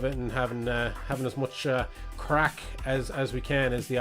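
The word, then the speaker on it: craic: Yeah, it's crack, but it's spelled C-R-A-I-C, and it's actually a Gaelic word, like an Irish word.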